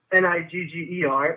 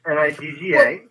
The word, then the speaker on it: nigga: I'm saying in hip hop, the use of the N-word, and it's not Nigger, it's Nigga. Well, they spell it.